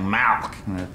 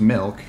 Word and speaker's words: milk: just want some milk now you're saying it wrong you're saying malk like it's a disease how do you say it i'm saying it the way everyone ought to say it milk m-i-l-k right like two percent